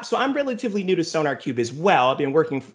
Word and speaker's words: SonarQube: called uh i hope i'm saying this right sonar cube is that how you say it yes sir